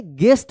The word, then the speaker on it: guest: GUEST, देखिए यहाँ पे जी के बाद यू है, यू के बाद वोवेल आया है ना, तो क्या पढ़ेंगे? गेस्ट पढ़ेंगे, GUEST गेस्ट।